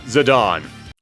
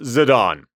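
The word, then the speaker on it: Zidane: Now, first up, the protagonist of the game, Zidon. Yes, I always said Zedane as well, but apparently it's pronounced Zidon.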